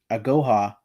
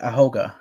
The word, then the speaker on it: Agoha: David ebuka at goha I might have said it wrong this whole time agoha uh was added to the right how did you say it before I think I said ahoga I was like dude so